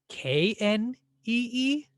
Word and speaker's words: knee: But would you write K N E E? Probably not. And there's this strange silent K at the beginning of the word knee, which students find very confusing.